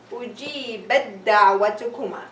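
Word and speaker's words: أُجِيبَتْ دَعْوَتُكُمَا: The dal was supposed to have a fatha, but because we have idghaam, so it wouldn't be pronounced with shadda, and we're going to say ujibat da'watukuma. So I will not feel or hear the sound of a ta.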